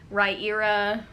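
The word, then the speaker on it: Riyria: era i can finally say it there's a pronunciation guide in the back raira revelations by michael j sullivan um i really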